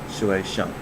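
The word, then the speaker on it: 学生: on next word is student and that is pronounced or said as shueishan in the first part the shui which is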